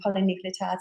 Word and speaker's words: polynucleotides: in aesthetic medicine, and polynucleotides will be up there at the top. So what are I never know how to say it. Poly what? Polynucleotides. Polynucleotides. Nucleotides. Yeah, that's it.